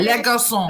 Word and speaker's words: Les Garçons: Les Garçons. The common element being. Yes. You don't pronounce. I wasn't going to try that. Yes. The S is silent.